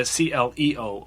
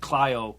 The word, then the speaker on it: Clio: Yeah, you're thinking of the CLEO award, but Clio is actually Clio.